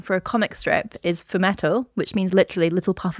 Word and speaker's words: fumetto: I think it's pronounced fumetto. Right. F U M E T T O.